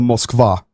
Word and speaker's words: Moskva: discussing quite a bit about the moskva and that is how you say it that is the ship